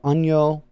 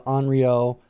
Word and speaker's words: Onryo: also known as the onyo which is the japanese pronunciation of it probably going to be heard the anrio uh as well that's